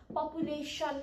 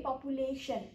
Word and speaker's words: population: Tapai le tion tion ani sion dekhnu bhayo bhane pani moto sa jasari pronounce huncha. Population bhannu paryo hai. Population population SHN, इसको pronunciation बनेको SHN हुन्छ है.